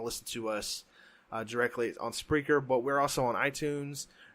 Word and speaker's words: Spreaker: Essentially, it's Spreaker, which spell it just how it sounds.